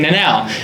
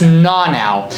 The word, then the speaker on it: Nanao: So like everyone would like being American, we would say Nanao, but it's Na now, and so we would